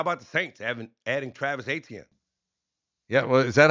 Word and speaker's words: Etienne: But in French, it's Etienne. It's Etienne. Now, no, you don't. The Tienne makes like a chin. It becomes almost like a ch pronunciation. So it's Etienne.